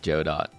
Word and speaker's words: Godot: It's pronounced Joe Dot, by the way.